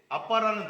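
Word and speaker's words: אבא: 이게 이제 아빠라는 단어는 아람어인데 거기서도 아빠라고 해요. 거기서도 아빠 이렇게 발음이 돼요.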